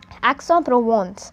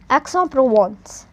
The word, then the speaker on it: Aix-en-Provence: Just the do remember the dash, that is telling us the spacing between the pronunciation of these.